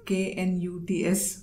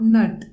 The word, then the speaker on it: Knut: I've actually never heard the word K-N-U-T-S pronounced. It's not nut, it's knut.